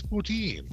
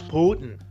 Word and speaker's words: poutine: Russia don't you know it's poutine no it's Putin I can't even remember how he pronounced I think well down here that's what we would all call it cuz that's the way it's spelled poutine but we put emphasis on second syllables a lot down here anything yeah yeah yeah these you Americans and your emphasis on the wrong syllable and so yeah we